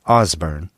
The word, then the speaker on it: Osborne: here in Kansas well first of all it's pronounced osbor here in these parts a region of the